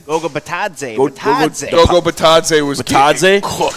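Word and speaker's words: Bitadze: Gogo Batadze.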